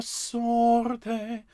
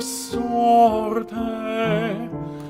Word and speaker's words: sorte: La dura sorte. If you can roll your R's on the R's, sorte, and so on, libertà, that's wonderful.